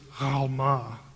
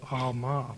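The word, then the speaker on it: עלמה: Now, in Hebrew, it's Alma. The letter is pronounced in the back of the throat, and that's why it gets transliterated sometimes with a G in certain books, like Gomorrah.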